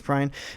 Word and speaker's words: Prine: And as of this recording, John Prine or Prine, I'm honestly not quite sure how to pronounce it. Prine. It is Prine.